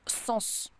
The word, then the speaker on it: sens: beaucoup de choses et on prononce le S mais pourquoi je sais